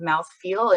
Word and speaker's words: mouthfeel: these ideal combinations of mouthfeel and crunch that keep us coming back for more. And no, if you're wondering, I'm not mispronouncing mouthful.